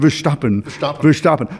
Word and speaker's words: Verstappen: Verstappen.